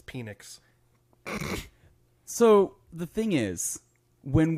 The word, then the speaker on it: Penix: When You're was pronouncing this it wrong. posted? It's Penix.